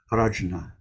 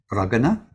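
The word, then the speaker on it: प्रज्ञा: Sharab is prajna in Sanskrit. Prajna. Now, depending, it can be pronounced in all sorts of ways. Pragana, pranja. There are 3, 4, 5 different ways of saying it.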